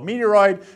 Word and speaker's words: meteoroid: going to get so meteoroid meteoroid is floating around rhymes with asteroid that's cool cool and